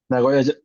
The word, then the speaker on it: Nagoya: You were born in, I will always try to pronounce it correctly, Nagoya, correct? Nagoya, yes, sir.